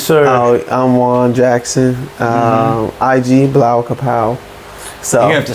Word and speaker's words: Blawkahpow: IG Blau Kapow. So you're gonna have to spell that. BLAWKAHPOW. Yep. Yeah. I'm glad I heard you say it because I definitely thought it was Blackapow.